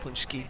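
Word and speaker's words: Pączki: don't know in Chicago they're called Punchki. So similar pronunciation not exactly the same but similar and that's probably the best way you can pronounce it with if you if you Americanized.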